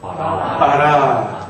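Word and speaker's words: ברא: 알렙이 낱말 맨 끝에 오면 묵음이 됩니다. 그래서 어떻게 읽어요? 바라.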